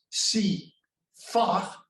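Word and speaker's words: CIFAR: um an intellectual community they call shiva and you have to pronounce that as see far where people have been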